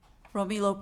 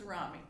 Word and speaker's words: Rami: Romilo Pat? Am I pronouncing that correctly this time? It's Rami. Rami, thank you.